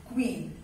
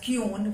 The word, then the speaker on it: queen: you will write it queen and children earlier also have told you the pronunciation is queen and not cune because very often people pronounce queen as kyon which is wrong it is not kyon it is queen king